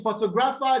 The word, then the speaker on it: photographer: Now you can see that in photographer, the stress is no longer on the first syllable, right? It moves towards Yes, sir. the second syllable because the word is now a syllable longer.